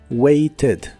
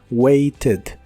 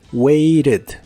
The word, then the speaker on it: waited: un verbo regular y la terminación eed se pronuncia como e d pero con la e suave waited waited adicional a esto en inglés americano en la versión del pasado de este verbo puedes pronunciar la t como r waited waited el verbo waited